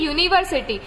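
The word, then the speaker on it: university: जब हम बोलते हैं ना यूनियन, तो वाई का प्रोनाउंसिएशन आता है। वैसे ही यूनिवर्सिटी, तो यूनिवर्सिटी भी जब हम बोलते हैं तो वाई का प्रोनाउंसिएशन आता है, यूनिवर्सिटी, इस तरीके से यूनिवर्सिटी आता है।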